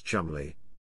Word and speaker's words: Cholmondeley: Colbert clarified that the name Cholmondeley is pronounced Chumley and then humorously discussed the rumored affair between William and the marching band of chicanery.